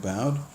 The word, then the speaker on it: Boude: bad I'm your host bad rhymes with loud no it's not really